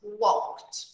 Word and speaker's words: walked: Walk becomes walked. That's the sound. It's from K to T, all right?